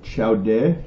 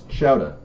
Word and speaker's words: chowder: better say it right do i say ciao de no it's chowdah cha chao di no